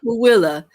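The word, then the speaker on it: Tooele: What tool in Utah is actually pronounced Willa?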